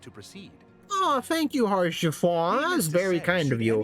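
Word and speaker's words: Haurchefant: Orchiffon. It's French. I'm American. What do you want from me? Oh, it's pronounced like it's French anyway.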